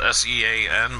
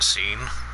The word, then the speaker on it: Sean: Okay, so Hot Ones is a channel where a guy named Sean Evans, spelled S-E-A-N, but I think he still pronounces it as Sean than Seen.